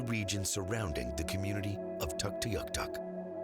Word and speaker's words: Tuktoyaktuk: Tuktoyaktuk, that's the English pronunciation of our community. We pronounce it Tuktoyaktuk, which means resembling a caribou.